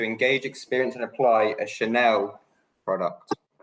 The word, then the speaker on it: Chanel: Oh, I heard channel, like the English channel, not Chanel.